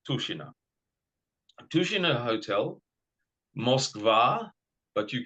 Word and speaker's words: Tushino: So t u s h i n o but it's pronounced tushina tushina hotel mova but you can just write